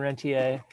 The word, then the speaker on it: rentier: can answer on the i've heard both rent here and rentier um and i can